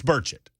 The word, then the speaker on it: Burchett: Is it It's Burchett.